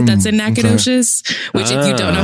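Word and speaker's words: Nacogdoches: how to spell it, like me saying that there's a G in the word Nacadocious sounds weird. Yeah, it's weird. I'm telling you, looking at the letters phonetically, it does not say nacadocious when you It doesn't.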